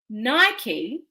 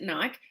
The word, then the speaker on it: Nike: And, to give you an example, Nike, some pronounce it Nike, I pronounce it Nike,